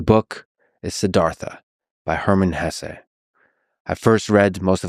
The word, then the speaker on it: Hesse: It was written by Hermann Hesse. And by the way, please allow me this pronunciation of his last name. I've heard some people say Hess, but my whole life I've always said Hesse.